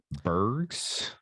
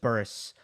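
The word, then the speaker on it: Zizou Bergs: Belgium engine kid zizu burgs yeah Daddy pronounce it well technically you don't say the g but I'm curious okay yeah just just Burris um yeah like Burris but I'm curious to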